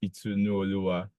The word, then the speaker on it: Itunu Oluwa: My name is Itunu Oluwa. That might sound like a tongue twister, but yeah, that's how to pronounce it.